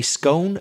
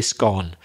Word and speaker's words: scone: say scone and I know English people who say scone I know Irish people who say scone I know Irish people who say scone the same for Scottish people it just seems to be a personal thing doesn't it it does but both are acceptable and what are they